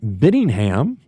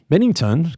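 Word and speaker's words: Binnington: Louis, Jordan Benningham. Bennington. Gosh, I don't know why I always want to say his name wrong.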